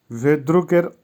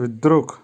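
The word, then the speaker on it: вдруг: ভিদ্রুক, ভিদ্রুকের অর্থ হবে হঠাৎ। উচ্চারণ হবে ভিদ্রুক, ভিদ্রুক।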